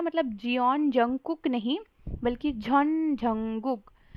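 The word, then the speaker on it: Jeon Jungkook: मतलब जियोन जंगकुक नहीं, बल्कि झॉन झंगुक।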